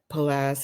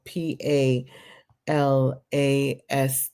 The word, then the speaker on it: Palast: out to Greg palas his last name is spelled p a l a s t do watch his videos on youtube Greg palas PA a a l a s t past like pal and last and but just one